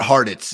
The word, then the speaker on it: Hartitz: It's like Cheez-Its, but Hartitz, you know?